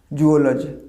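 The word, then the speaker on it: zoology: এই সাবজেক্টটাকে দাদা জুওলজি, প্রাণীবিদ্যা। এটা কলেজ লেভেল থেকে পড়ানো হয়। জুওলজি না, দিস ইজ নট জুওলজি, জৌওলজি।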